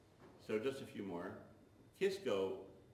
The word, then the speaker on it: Kisco: just a few more kisco it was really cisco with a c and somebody thought the c should be pronounced as a k and that's why we have kisco shallow muddy river so